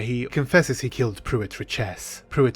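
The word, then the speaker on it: Richese: puit richess pruit reesy is it richess or reesy what I'm confused reesi I did some digging and I found the pronunciation of this word so as far as I know richess only comes up in the appendix of Dune some of the Brian Herbert audio books say riches but in David Lynch's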